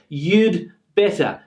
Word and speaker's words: you'd better: You'd better, you'd better, you'd better. Now it almost becomes inaudible sometimes that there is a D here.